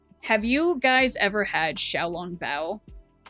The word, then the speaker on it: Xiaolong Bao: Xiao, like Xiao, long, spelled like long, Bao, B-A-O.